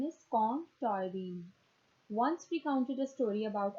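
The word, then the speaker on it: Colm Tóibín: An Irish novelist, Com Toynbee, okay, its pronunciation is Com Toynbee, once recounted a story about observing a Cantonese man sitting on a Kowloon footpath reading a book.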